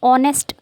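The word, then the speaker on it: honest: का प्रयोग ठीक है इस वर्ड को आप पढ़ेंगे ऑनेस्ट तो मैंने बताया ओ क्या है एक वल साउंड है इसलिए इसके आगे आप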